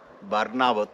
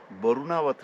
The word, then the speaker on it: बारनावत: ये जो बारनावत क्षेत्र, ये उत्तरकाशी का बारनावत, ये लोग यहाँ का लोकल लोग उच्चारण करते वरुणावत, वरुणावत नहीं, बारनावत।